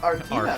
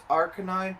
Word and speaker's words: Arcanine: Yeah, it's Arcanine, but they say it like the way that me and my little sister said it for so many years is Artina.